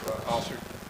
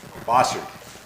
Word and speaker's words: Bossard: And Chief, how do you say Kevin's last name? Bossard? No, Bossard. Kevin Bossard, the chief, he's an assistant chief for Olympia.